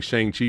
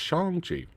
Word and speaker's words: Shang-Chi: say it correctly um i've been saying shang chi for years but it's shangji and both of them